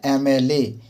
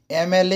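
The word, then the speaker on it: MLA: लेकिन यहां पे एन का प्रयोग होगा क्योंकि जब हम लोग एम एल ए का उच्चारण करेंगे। तो एम एम होता है यानी शुरू में ए आ रहा है तो यहां पर हम लोग एन लगाएंगे।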